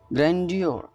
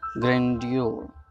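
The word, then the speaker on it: grandeur: ग्रैंडियर, this word is very nice for every one. देखिए यहाँ पे देखिए आप, ग्रैंडियर, व्हाट सही से प्रोनाउंस कीजिए, ग्रैंडियोर।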